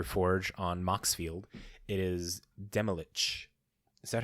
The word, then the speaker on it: Demilich: It is Demilich. Is that how you pronounce that guy's name? Demilich? Yeah, Demilich.